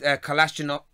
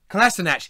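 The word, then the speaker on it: Kolašinac: and make runs inside, pairing with Lacazette, with Kalashnikov. Do you write Kalashnikov? It means Kalash. Yeah, I'm sorry, you've written his name wrong, so I really just put it filling in the space in a 4-3-3.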